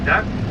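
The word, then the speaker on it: DUKW: This duck is spelled D-U-K-W.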